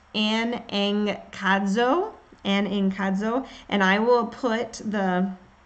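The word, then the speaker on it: ἀναγκάζω: It also, in Greek, it's pronounced anankazo, and I will put the link up there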